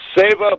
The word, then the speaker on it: seva: And SEVA board member, spelled S-E-V-A, but pronounced Seva, and it's a Sanskrit word meaning service to humankind.